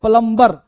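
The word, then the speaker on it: plumber: जैसे बहुत सारा वर्ड सुना होगा, हम बोलते हैं प्लम्बर, प्लम्बर नहीं प्लम्बर, बी होता है साइलेंट, प्लम्बर, प्लम्बर नहीं प्लम्बर।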